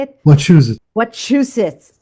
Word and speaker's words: Wachusett: Wachusett.